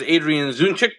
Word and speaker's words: Adrian Zdunczyk: Joining me for the hour is Adrian Zdunczyk. Hopefully I pronounced that correctly, Adrian, who's got a lot